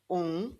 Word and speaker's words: um: Um café e um bolo. Notice that the M here isn't pronounced like an M, it's more um.